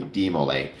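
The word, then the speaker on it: DeMolay: look is demo or uh de I was pronouncing it correctly. De Mole, which is a Masonic youth group for young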